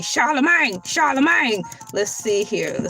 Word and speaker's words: Charlemagne: C H A R L E M A G N E Charlemagne.